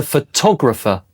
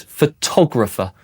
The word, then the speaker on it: photographer: But, a person who takes a photograph is a photographer. Look where the stress is. Photographer.